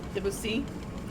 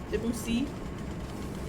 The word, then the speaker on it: Debussy: Accent on the C. Debussy. Debussy. Okay.